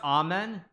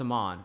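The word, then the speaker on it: Aman: White's missing a rook is pronounced amen no it's not it's a mon Amon Hamilton not just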